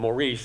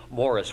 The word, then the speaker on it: Maurice: I know that Paul called them Maurice, and it's spelled that way, but indications are they probably pronounced it Morris.